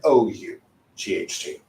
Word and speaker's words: ought: bout or Tout however it's just ought so it doesn't matter if it's spelled with an a u g h t or an o u g h t the pronunciation of ought stays the same all right so if